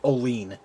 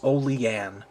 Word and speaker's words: Olean: And it really bugs me whenever I hear a knife reviewer here on YouTube pronounce it Olean. For Christ's sake, it is not Olean. It's Olean.